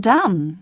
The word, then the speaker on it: dumb: preferable comfortable and vegetable bee must not be heard in doubt debt and dumb both leave it out in the words psychology